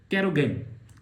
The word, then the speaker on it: carrageenan: Next चीज, एक और चीज है जिसको बोलते हैं कैरोगेन। इसके स्पेलिंग अजीब से हैं, CARRAGEENAN, कैरोगेन।